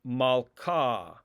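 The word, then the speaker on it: מלכה: the vowel ah ah the hay is not pronounced in this case like in the word malka malka i put an h in in the transliteration you can see that right here but the h is not really pronounced it's malka without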